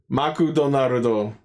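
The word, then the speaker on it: マクドナルド: o oh no actually in Japan they they pronounce as M no maon what I'm not sure if I believe that I maku donarudo yeah that makes sense sponsored by McDonald's we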